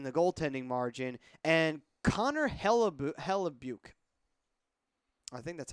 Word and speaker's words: Hellebuyck: professor can't pronounce it I believe it's hella buck I think it just